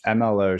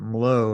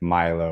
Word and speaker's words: MLO: have asked that yeah no you're fine it's mlo shoes so it actually is an acronym that stands for move lead overcome got it I almost pronounced it low and I'm like I don't think that's right